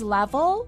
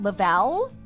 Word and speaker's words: Level: It's Level, not Lavelle. What was that again?